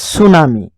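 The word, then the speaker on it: tsunami: এইটো আমি কি কৰিছো এইটো টি টু সাইলেন্ট এইটো সুনামি সুনামিটো টি টু সাইলেন্ট হৈছে সুনামি টিএস য'ত থাকে আপোনালোকে চাব টি টু সাইলেন্ট হৈ থাকিব সুনামি তাৰপিছতে আপোনালোকে দেখিছে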